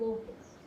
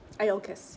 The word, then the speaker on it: Iolcus: sail for the walled town of Locus. Is that how I pronounce it? Iolcus, yeah. Iolcus? Iolcus, yeah.